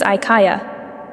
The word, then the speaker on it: Aika: It's pronounced somewhat like a prolonged A sound with inflections.